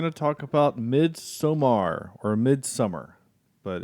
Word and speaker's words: Midsommar: talk about midsomar or mid-summer but it's it's it's spelled somar but it's just mid-summer omar somewhere summer i